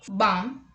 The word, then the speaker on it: balm: L is not pronounced after the vowels A, O and U. Let's look at the examples. Calm, half, talk, walk, would, should, could, calf, salmon, yolk, chalk, balm.